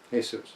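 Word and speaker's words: Jesús: I read the guy's actual name is he su Garcia hey soos okay yeah sorry I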